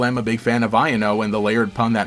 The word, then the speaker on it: Iono: So in English it should be pronounced Iono because it's supposed to sound like I don't know.